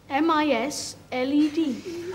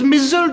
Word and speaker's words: misled: M-I-S-L-E-D. So that is mizzled in it? Oh, indeed, my goodness, look you. And here is me in my ignorance, always pronouncing it misled.